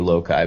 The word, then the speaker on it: loci: It's either Loki or loci, but I think it's loci. And I think it is loci.